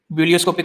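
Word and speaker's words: ebullioscopic: है दूसरा नाम क्या, ई साइलेंट रहेगा, बोलो, ब्यूलियोस्कोपिक कांस्टेंट।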